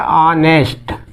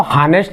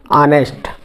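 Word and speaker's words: honest: इसको हानेस्ट नहीं पढ़ेंगे, इसको हम क्या पढ़ेंगे, ऑनेस्ट। ऑनेस्ट पढ़ेंगे। तो देखिए यहाँ पे ये जो शुरू किससे हुआ है, एच से। एच क्या होता है, कॉन्सोनेंट। कॉन्सोनेंट से शुरू हो रहा है, लेकिन जो हमारी ध्वनि निकल रही है, उच्चारण हो रहा है, किससे हो रही है, अ से।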